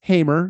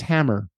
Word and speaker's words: Hamer: It is Hamer. You're 100% right, but not one podcast host of the 5 that I listened to pronounced her name right. Everybody was Hammer.